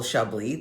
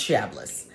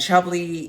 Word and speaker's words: Chablis: looks like it's pronounced shabas but it is in fact shabi because it is French and shabi is a region in